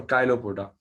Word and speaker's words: chilopoda: the class name is chilopoda और काइलोपोडा। सो दो तरह से प्रोनाउंस करते हैं इसको।